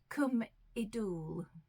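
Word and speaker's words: Cwm Idwal: do this to remind myself and it is pronounced Kum UL that's as close as I can get to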